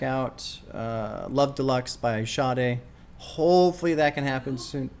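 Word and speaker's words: Sade: want to check out uh love Deluxe by shade hopefully that can happen soon sh that's how you pronounce it we do yes okay this is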